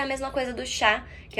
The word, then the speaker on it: chat: Não é chat também, tá? Gato é chá. Chá. Se pronuncia igual o nosso chá de tomar mesmo.